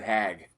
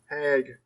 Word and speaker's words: Haig: Came out April 11th, 2003, written and directed by Rob Zombie, starring the late great Sid Haig, Karen Black, Bill Moseley's in this. Hag. I said Haig. You said Hag.